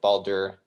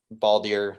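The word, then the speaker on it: Baldur: boss battle even with balder baldier i can't ever say it right i think it's just balder right alder yeah uh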